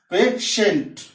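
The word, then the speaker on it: patient: फिर आई, यहाँ पेशेंट means रोगी।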